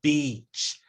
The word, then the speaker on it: beach: the E and B we need to pull the coordinates of our mouth way back and go beat it is pronounced way at the front of your mouth that's not the vowel we're looking for let's pull way back e Beach um and by jumping